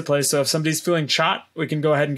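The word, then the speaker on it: chaat: should try so there is a dish called chot it's spelled c h a a t uh and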